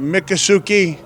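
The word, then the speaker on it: Miccosukee: to be right here help me with the pronunciation mikasuki Resort you got it sir yeah right here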